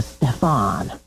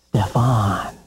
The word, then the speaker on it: Stefan: Those just took you from Stephen to Stefan. Same letters, same number of syllables. So much cooler. Stefan. It's all in the emphasis.